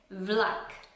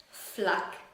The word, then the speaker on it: vlak: Vlak. Nicht Flak, sondern W.